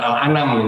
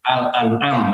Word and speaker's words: Al-An'am: Ada Quran surat Al-An'am, bukan Al-An'am ya, Al-An'am bacanya.